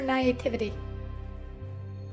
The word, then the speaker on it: naivety: That is not how I've heard that word pronounced. I'm assuming that's a regional difference. Probably. They can't read. Naivete is how I've heard that pronounced.